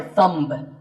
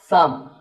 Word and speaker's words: thumb: This is my thumb. It's not my thumb. It's pronounced thumb.